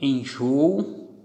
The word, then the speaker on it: enjoo: Que tenho enjoo, abençoo, vou. Aqui em enjoo. Enjoo, aqui está a tonicidade. Então, última, penúltima, é paroxítona.